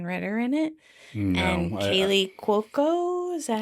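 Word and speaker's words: Kaley Cuoco: And Kaylee Cuoco.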